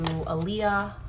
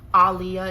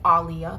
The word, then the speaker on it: Aaliyah: regarding Jay-Z and people are connecting him to Aaliyah Aliyah excuse me that's how you say her name Alia people are connecting him to the great Alia